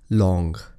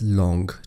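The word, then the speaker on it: Tlawng: Alright, the second next river is Long. It is spelled as T-L-A-W-N-G, but you pronounce it as Long. T is silent.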